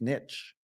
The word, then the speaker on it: niche: It's not really pronounced niche. It's niche. It's how the French pronounce it.